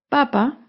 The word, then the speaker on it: papa: veamos las siguientes palabras papa lleva el acento en la primera sílaba en cambio papá lleva el acento en la segunda sílaba la primera palabra papa